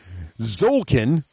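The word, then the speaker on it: Tzolk'in: So I think it's pronounced Zolkin.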